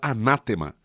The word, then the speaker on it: anátema: Essa palavra, a palavra anátema, é, na verdade, uma palavra em grego. É assim que se pronuncia em grego, e ela significa ser cortado, separado.